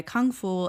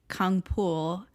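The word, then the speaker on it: Kangfull: It is adapted from the web tune moving by Kung Fu aka Kungpool. It I guess just depends on how you pronounce it. There is no F sound in Korean.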